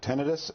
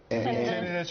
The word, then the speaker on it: tinnitus: You know, it's interesting because I have a friend who experienced tinnitus. Is that how you say it? Tinnitus or tinnitus, both are correct.